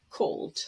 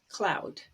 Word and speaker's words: cloud: way they are described so for cloud i've heard students say cold they're kind of guessing a little bit the cc and l and d and they're not so sure where the vowel goes but if you look carefully it cloud cloud well cold the ld are together another one is percept